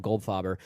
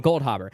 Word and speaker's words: Goldhaber: Harbor gold Harbor okay I'm adding an F there that didn't exist that's my apology um gold Harbor yes um but yeah